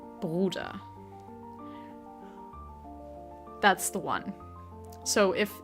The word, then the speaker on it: Bruder: Uh so, the way that that the the German word for brother is pronounced is Bruder. Bruder.